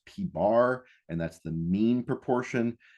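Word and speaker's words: p̄: Then we have P with a line over it, pronounced P bar, and that's the mean proportion.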